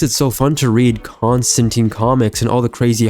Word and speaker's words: Constantine: The Constantine actually, that's how you pronounce it. Constantine.